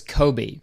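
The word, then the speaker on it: Coby: Okay, so the episode starts with a nice introduction to the CEO of Hooters America, and his name is Kobe, and it's spelled C-O-B-Y, and that's how my grandparents spelt their old cat's name.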